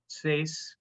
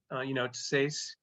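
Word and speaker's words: T'sais: I would say it's Sace, Tissace, and Sane. But your mileage may vary, and either one of them are lovely.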